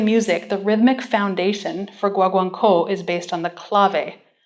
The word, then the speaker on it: Guaguancó: next composer, Guido Lopez Gavilan, wrote his work, Guaguancó. I was coached on the pronunciation of that by Cosette, so I think I've got it. Guaguancó was written for chamber orchestra first and later arranged for string quartet.